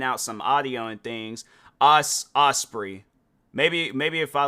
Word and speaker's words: Ospreay: Ospreay. Maybe if I like look that up and then his last name Ospreay pronunciation. There we go. Hold on. Ospreay.